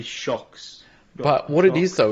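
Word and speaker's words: Shokz: the brand is called it's shkz shocks is how I would pronounce it but I don't know s-h-o-k-z sorry oh yeah that would be shocks but what it is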